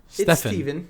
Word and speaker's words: Stefan: buddy of ours stefan stephen it's stephen it's spelled like stefan it's stephen stephen student he uh